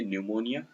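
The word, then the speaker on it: pneumonia: Knife, knowledge, psychology, P नहीं पढ़ेंगे, psychology यहाँ पर निमोनिया में पी नहीं पढ़ेंगे, न्यूमोनिया, नेफ्यू, नो, यहाँ सब ये साइलेंट वर्ड्स हैं, इनको आपको अच्छे से पढ़ना है।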